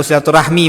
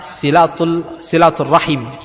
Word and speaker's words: silaturahim: Bahasa Arabnya silaturahim. Ya, itu udah bahasa Arab juga, Pak. Silaturahmi bahasa Arab juga, cuma pengucapannya kurang pas gitu. Tapi karena itu pengucapan kita sehari-hari tidak masalah. Ya kita ucapkan silaturahmi tidak masalah.